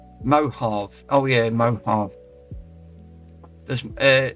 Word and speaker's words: Mojave: It's pronounced Mohave.